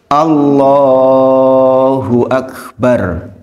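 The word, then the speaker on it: الله أكبر: kesalahan pengucapan Takbiratul Ihram yang benar gimana Allahu Akbar yang panjang loh nyatanya jadi kalau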